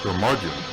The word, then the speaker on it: curmudgeon: the curmudgeon rock report curmudgeon rhymes with bludgeon rock gods do it